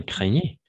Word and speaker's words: craignez: vous craignez, comment ça se prononce? Exact, c'est ça, craignez.